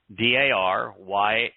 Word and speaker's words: Darius: interactions with, I guess it's not the same Darius, but a grandson or son. But the name is phonetically pronounced. It's Daryawesh, Darius.